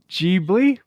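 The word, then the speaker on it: Ghibli: It is uh Jibli. Jibli is the closest to the Japanese pronunciation by somebody that actually speaks Japanese.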